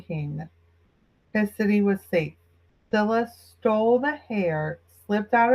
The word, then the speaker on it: Scylla: The Scylla, I know is pronounced that way. It's s c y l l a.